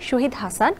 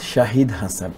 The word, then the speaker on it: শাহিদ: এখানে একটা মানে যেহেতু SHA আমার বেসিক্যালি প্রোনাউন্স এভাবে হবে মোহাম্মদ শাহিদ হাসান, SHA শাহ, HID শাহিদ, কিন্তু যেহেতু আমরা সবাই SHA শ মনে করি, তো সেই জায়গায় সল রাইট, কিন্তু ইনফ্যাক্ট আমার প্রোনাউন্স হবে শাহিদ হাসান, মোহাম্মদ, যেমন জাহিদ হাসান, জহিদ হাসান বলি না কিন্তু আমরা, বিকজ সে ওইরকমই আর কি, মানে আমারটা হবে শাহিদ হাসান। This is my proper pronounce.